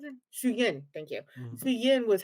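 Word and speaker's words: Suyin: I can see the main when Shujin, So is that yeah. how you pronounce it? Shuyin, thank you.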